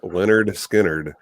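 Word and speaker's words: Lynyrd Skynyrd: 1973 and it is the debut album of leonard skynyrd and it's the album pronounced leonard skynyrd free bird baby absolutely absolutely um and that's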